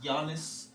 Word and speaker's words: Giannis: Yeah, and by the way, it's pronounced Giannis.